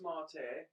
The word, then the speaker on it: MATE: edition yes it's pronounced marte or spelt m-a-t-e because it's named after a spanish drink or is it mexican